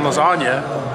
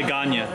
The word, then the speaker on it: lasagna: like lasagna get that because the g is silent no i get that a lot of people ask me they're like what does that mean i'm like there's a g in lasagna but you don't say gagne you don't say lazagna